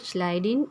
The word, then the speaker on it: Schleiden: The pronunciation is Schleiden and Schwann.